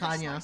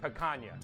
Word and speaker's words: picanha: blade, effortless glide, no tearing, no sawing, just clean, That's even picanha.